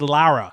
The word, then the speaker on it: Lara: Oh, the way he said Laura, he never said Laura. He said Lara. Well, it's how it's spelled, I guess.